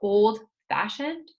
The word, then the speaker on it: old-fashioned: For old-fashioned, old is the first word, fashioned is the second word, so we pronounce, we have our stress, on the syllable that starts the second word, which is fa.